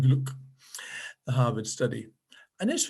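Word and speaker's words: Glueck: grant and glock that's g-l-u-e-c-k pronounced grant and gluck the harvard study and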